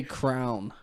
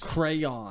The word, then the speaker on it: crayon: not I don't say crayon yeah people that say I forgot you say Crown yeah dude like on your head I say like the Billy eilish song I say it like you should crayon like a proper crayon English speaker with two syllables crayon it's a crayon